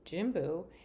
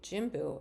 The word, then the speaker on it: Jimbu: Opened in spring of 2023, Jimbu is named after an aromatic herb that resembles grass and is native to Nepal.